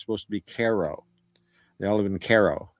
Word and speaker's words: Cairo: It's supposed to be Caro.